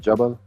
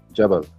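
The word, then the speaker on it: جبل: Jabal. How do you say mountain? Hold on. Mountain in Arabic. Jabal.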